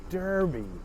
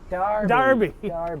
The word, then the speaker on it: Derby: nice but she's actually we pronounce it derby darby see i'm still doing it yeah no the premier